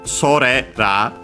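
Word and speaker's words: それら: The accent is sorera, so on the re before ra.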